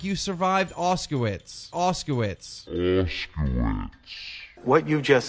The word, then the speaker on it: Auschwitz: Keemstar, it is pronounced Auschwitz.